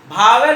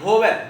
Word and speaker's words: vowel: उसके पहले वोवेल हो, भावेल या वोवेल, भा नहीं, वोवेल, VOWEL वोवेल, भावेल मतलब कोई भा नहीं होता है, वोवेल, ध्यान देना।